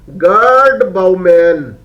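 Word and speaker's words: Gerd Baumann: and non-linear Dynamics okay g-e-r-d girl b-a-u-m-a-n bow man okay we can pronounce it as God Bowman okay g-e-r-d girl b-a-u-m-a-n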